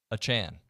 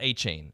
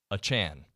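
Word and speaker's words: Achane: forward he would like his name to be pronounced Devon a Chan not a chain as it's currently listed in the team's media guide a Chan welcome into tech stocks radio presented by David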